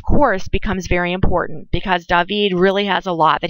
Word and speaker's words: David: It looks like David, but of course we can't pronounce it David. David.